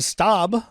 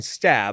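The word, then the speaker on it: Staab: And then Susan Storm, played by another welcome back, Rebecca Staub. Who we previously was pronouncing Stab.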